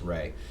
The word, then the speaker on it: Ra: It's called Ra often, but most of the time I believe it's supposed to be pronounced Re.